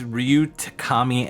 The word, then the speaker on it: Takami: Ryu yuoto Yeah we actually did yeah it's Ryu Takami and uh Ryu umoto which the latter of